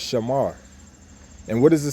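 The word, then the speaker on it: שמר: When you put those 3 words together, saying it in the ancient Paleo Hebrew, it will be what? Shamar. Okay, shamar, sha, ma, and a ra, and when you put it together, it's shamar.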